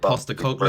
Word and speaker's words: Postecoglou: Like when we appoint, I can't pronounce his name, you're gonna have to help me out, Roberto. Is it Postecoglou, I think?